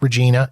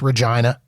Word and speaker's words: Regina: it is not pronounced Regina it is pronounced Regina and it it rhymes with what you think it rhymes with um Spence uh was